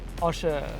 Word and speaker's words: Osher: You said something before, I called you Osh, and you said Osher.